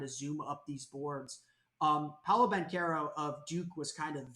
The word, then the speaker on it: Paolo Banchero: You said Paolo Banchero, not Bonchero.